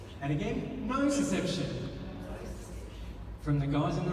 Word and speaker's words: nociception: Nociception. And again, nociception. From the guys in the room? And from the girls? Well done, New Zealand. And it's spelled like this, but we say it, nociception.